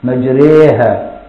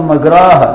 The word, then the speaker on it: مجريها: الشيخ يقول لك لا كده طولت شوية، كده مطيت شوية، كده ما تنفعش، كده لا دي خليها بين الكسرة وبين الفتحة عشان تبقى إيمان. مجريها. أوعى تقول مجراها، لا تبقى غلط يا عم الشيخ.